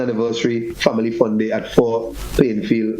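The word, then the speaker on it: Fond: We have a beautiful family fun day, grand second anniversary family fun day at 4 Plainfield. It's spelled F-O-N-D fund. Yeah, it is pronounced by the locals as 4.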